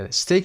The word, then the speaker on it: steak: کلمات bread، breakfast، healthy اینجا و steak که یک مقدار حالت استثناء داره به این شکل هم تلفظ صدای A و ی رو میگیره در اینجا قرار میگیره. استیک رو باید حفظ بکنید که به این شکل تلفظ میشه استیک که گوشت هست، نوعی گوشت هست.